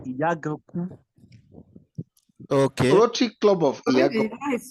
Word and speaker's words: Iyaganku: That's actually the correct pronunciation. Iyaganku.